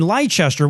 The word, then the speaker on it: Leicester: an apprentice working in Leicester, which is pronounced Leicester, but fuck you. If you want me to spell it like, say it like that, spell it like that. Anyway, a couple of decades